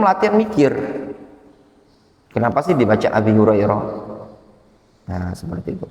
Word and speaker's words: Abi Hurairah: Dibaca Abi Hurairah. Makanya ketika belajar seperti ini, antum latihan mikir, kenapa sih dibaca Abi Hurairah?